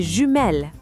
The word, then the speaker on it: jumelles: To say twins in French, we say les jumeaux if they are males and les jumelles if they are females.